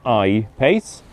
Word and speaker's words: I-Pace: Then it's called I-Pace. In Swedish I-pace is pronounced exactly like E-pace in English.